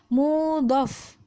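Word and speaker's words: مضاف: binal letaknya di shorof kalau di sini bacanya adalah mudhof bukan mudah sekali lagi bacanya mudhof harap diharap dilihat tulisannya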